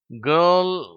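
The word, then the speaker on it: girl: இந்த ஆர் என்ற உச்சரிப்பு தமிழ்ல இருக்கிற அந்த இரு உச்சரிப்பு மாதிரி கிடையாது. தமிழ் ரா மாதிரி ஆங்கிலத்தில் அதை உச்சரிக்க கூடாது. தமிழ்ல நமக்கு 2 ரா இருக்கு. ஒன்று ரா, இன்னொரு அழுத்தமா ரா அப்படின்னு உச்சரிக்கிறோம். இந்த 2 உச்சரிப்பும் கிடையாது. ஆங்கில ரா கொஞ்சம் மென்மையா உச்சரிக்கணும். அதுவும் இது மாதிரி எல் என்ற எழுத்துக்கு முன்னாடி அது வரும்பொழுது அந்த உச்சரிப்பு ரொம்ப மாறிடுது. அதனால இதை கேர்ஃபுல்லா நீங்க உச்சரிக்கணும்.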